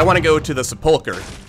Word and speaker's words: Sepulchre: Apparently that's how you pronounce Sepulchre. I've been saying Sepulchre my entire life because I've never heard anyone say it out loud, but it's apparently pronounced Sepulchre. Hard K sound.